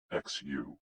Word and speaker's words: xu: The 6 sounds are XU, pronounced like shh, with a deep sigh, which is associated with the liver.